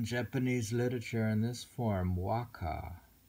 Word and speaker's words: waka: In this form, waka, W-A-K-A, waka, consisted of 31 syllables divided into 5 sections of 5-7, 5-7-7.